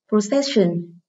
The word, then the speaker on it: procession: Procession. Từ này có hậu tố tion nên trọng âm rơi âm tiết trước nó. Vậy đáp án câu này là B, vì trọng âm rơi âm tiết số 4.